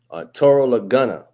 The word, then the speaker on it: Auturo Laguna: Auturo Laguna. That's how you pronounce his name.